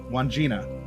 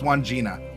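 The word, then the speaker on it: Wandjina: this earlier Juan Jinnah one Gina yeah it's one Gina one two syllables one Gina now if it requires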